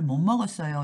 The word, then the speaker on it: 못 먹었어요: 밥 못 먹었어요 밥을 못 먹었어요 이렇게 할 때는 못 먹었어요 모으로 미음 때문에 앞에 있는 디귿이 니 발음이 되거든요 그래서 못 먹었어요 이렇게 하시면 돼요 못 먹었어요 못 먹었어요